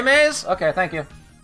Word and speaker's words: Raimais: Ry, how do I pronounce it? Ray. Raymes.